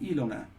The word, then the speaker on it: Ilona: Sorry, is it Ilona or is it Ilona? Where's the stress? Is it on the first syllable? Screen, live stream, YouTube. Open this page in Amazon? No. What? Oh, it's first syllable stress to answer your question.